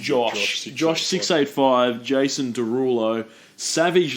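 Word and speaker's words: Jawsh: be Josh Josh Josh it's spelled j-a-w-s-h but I reckon that's meant to Josh Josh 685 Jason Derulo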